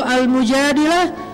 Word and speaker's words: Al-Mujadilah: Jadi tergantung kita bacanya dilah atau dalah. Kalau kita baca Mujadilah, berarti perempuan yang lagi curhat. Kalau kita baca Al-Mujadalah, berarti curhat itu sendiri.